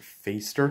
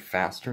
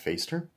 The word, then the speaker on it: Fäster: believe it is pronounced faceder because it's got that like accent on the a so it's not craig faster it's craig feister but yeah let's get